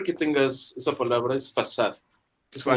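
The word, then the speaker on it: façade: La primera, bueno, yo la escribí en chat, se pronuncia fasad. Esa letra, que es la segunda, Ajá. se llama cedilla. Se usa en el portugués y se usa también en el francés.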